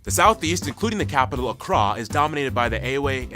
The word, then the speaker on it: Accra: of course the capital Accra yes that's how you pronounce it Accra located in the southeast